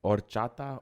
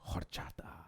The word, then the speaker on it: horchata: Is it horchata or horchata? I don't know Spanish, nigga. The H's, I swear that H's, it want to be silent.